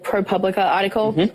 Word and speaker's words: ProPublica: I got sent the pilot script and the ProPublica article. I'm saying that wrong, aren't I? You said it right, girl. Right. You're good. Okay. ProPublica.